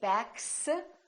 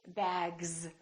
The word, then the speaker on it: bags: This S, we don't say bags, we say bags.